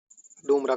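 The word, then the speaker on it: Ldumra: डूमरा का अर्थ है फूलों की घाटी। इसे इंग्लिश में लडुमरा लिखा जाता है। एल साइलेंट रहता है।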